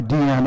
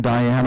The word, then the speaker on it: Diane: Mel Lyman, this is a photograph of Mel Lyman taken by Deanne Arbus, or as some pronounce her name, Diane Arbus. I think she preferred Deanne.